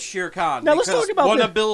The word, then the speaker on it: Shere Khan: trust me, I know it's Shere Khan.